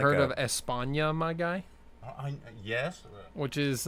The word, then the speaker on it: España: Well, that's how they say it in España. They say España.